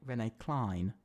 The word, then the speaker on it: Rene Klein: By the way, I believe you're meant to say Rene Klein. I believe. So is it Klein? Yeah, I think so, because Aiden's giving me, is teaching me how to say it, because he's come in chat.